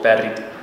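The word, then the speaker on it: بارد: Barid means cold, barid. But it's definitely rolled, and that's something I'm always telling people.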